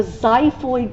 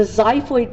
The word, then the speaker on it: xiphoid: this is called the xiphoid process it's spelled with an X so it's a xiphoid process now one of the